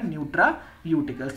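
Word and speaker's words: nutraceuticals: ठीक है, इसका करेक्ट प्रोनाउंसिएशन हो जाएगा न्यूट्रायूटिकल्स।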